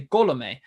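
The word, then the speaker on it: Colomé: And I learned a lot too about pronunciations this offseason as well with Alex Colome, because the accent mark is on the E there, but it's actually Colome, and it's because there's actually two.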